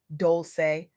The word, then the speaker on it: Dolce: I'm Dolce, pronounced Dolce, like sweet softness whispered in French, and I'm your guide